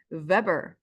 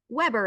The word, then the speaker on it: weber: for magnetic flux is the Weber or the Weber if we want to butcher it to that or the Weber if some people like to say that pronunciation in that way but the I'm going to say the Weber so WB is the